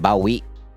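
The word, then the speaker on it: bawi: yeah bro well again the spelling for that's b-a-w-i that's just how you pronounce it well sort of you can pronounce it that way there's another way to pronounce it Bowie that way you just keep the ba and the W and I know everyone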